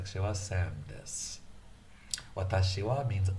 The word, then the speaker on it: watashi: It's a long word, watashi. It can be pronounced watashi, watashi, atashi.